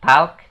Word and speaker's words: talk: Nah, untuk talk sendiri kita ngomongnya bukan talk, tapi talk. Talk, gitu guys. Jadi L-nya itu seolah-olah nggak ada gitu guys.